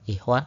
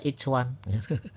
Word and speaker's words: ikhwan: Nah, tapi CH ini dibaca seperti C Indonesia gitu seperti pada cetak ya. Jadi tulisan I c W A N yang mestinya dibaca pakai H kecil ikhwan ya. Jadinya dibaca each one. Lucu jadinya each one gitu.